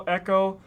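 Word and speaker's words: Ecco: There's a game that came out in the Sega years ago that was spelled ECC O Echo. Uh, and people kept calling this game Echo.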